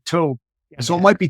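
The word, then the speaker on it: טוב: It's only three letters, T-O-B. So how could you go wrong with T-O-B by calling it tob? I think the B sounds a little closer to a V in Hebrew, but I'm no expert.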